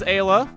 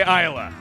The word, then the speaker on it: Ayla: that taste we're outnumbered Japanese spelling implies that it should be pronounced as Ayla I shall resist with all my might to not say Iowa that is what I've been saying my whole life I'm gonna try real